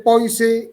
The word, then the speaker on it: poise: Se escribe poise y se pronuncia poise.